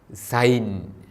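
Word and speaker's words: ܙܝܢ: ആ കഴിഞ്ഞു വരുന്ന യൂത് ഐ, സൈൻ. ഇസഡിൻ്റെ പോലെയാണ് സൈൻ എന്ന അക്ഷരത്തിൻ്റെ ഉച്ചാരണം.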